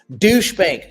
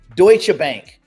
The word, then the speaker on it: Deutsche Bank: Uh, let's talk about Douchebank. Sorry, sorry, sorry. Not Doucheb Bank. Did I spell that wrong? Deutsche Bank and Standard Chartered are eyeing an expansion into the US crypto market.